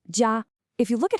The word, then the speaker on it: 家: Take the character for family or home, pronounced jia.